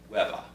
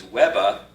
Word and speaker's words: Weber: In New York City, the way that the Weber name would be pronounced would be Webba.